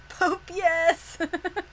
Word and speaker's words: Popeyes: Because I used to think Popeyes, the restaurant, was Pope Yes. Pope, yes.